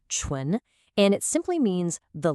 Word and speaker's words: 唇: It's pronounced chu and it simply means the lips.